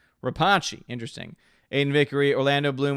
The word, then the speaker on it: Rapace: Orange Hat says her last name is pronounced Rapace. Rapace, interesting.